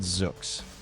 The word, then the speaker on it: Zoox: It is called Zoox, spelled Z O O X, rhymes with books, owned by Amazon.